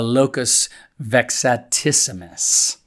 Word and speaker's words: locus vexatissimus: of verses a grammatical locus vexatissimus. That's how I think it's supposed to be pronounced.